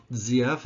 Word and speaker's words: ZF: 48 by the way zf is actually supposed to be pronounced zf i guess that's the way the germans say their z's is like a zed and that's the company